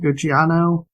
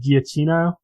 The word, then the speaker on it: Giacchino: And I saw like, Michael, how you pronounce his name? Gucciano? I probably did it incorrectly, but I said Giacchino.